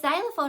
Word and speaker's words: xylophone: with an X but xylophone actually starts with the z sound it's a z sound spelled with the letter x but they're going to